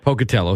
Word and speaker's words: Pocatello: hometown and poell Idaho I'm not I'm probably pronouncing it wrong um poell Pocatello thank you it's cold there tesm Hill is